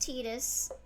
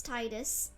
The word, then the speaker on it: Titus: to get our thoughts I know his name's pronounced tetus but I refuse to call him tetus it's Titus sorry look on the